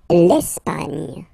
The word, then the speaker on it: Espagne: L'Espagne, l'Espagne. Okay, don't insist on the final E because basically it's not pronounced.